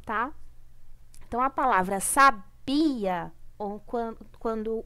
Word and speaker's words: sabia: por causa disso tá bom então a palavra sabia ou quando o be é a sílaba tônica é a sílaba mais forte tá